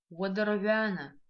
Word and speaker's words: уадарвяна: И звук г в слове уадарвяна. Мы видим, что пишется он как г палочка в. Запоминаем мы этот звук с помощью слова гнездо, вяра.